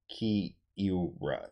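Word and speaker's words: Kiewra: I actually got this position over the board versus International Master Keaton Kiera from Kiora. It's like K-I-E-W-R-A. Kiora. It's extremely hard to pronounce, but shout out to him.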